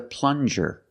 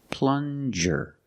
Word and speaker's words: plunger: you have very good this is a plunger plunger use the regular n and the J sound like juice plan juror this is a